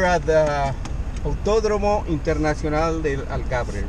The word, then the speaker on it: Algarve: So we're here at the Autódromo Internacional del Algarve, right?